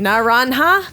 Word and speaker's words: Naranja: It's Naranja. This is pronounced with Naranja. a H Oh yeah, we sound. said that, huh? Yeah, like Naranja? like how Jesus is Jesus.